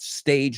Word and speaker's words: stage: So no stage, sino life has many stages, or it depends on what stage. No me acuerdo la frase exacta, pero just be careful you don't stick that E before it.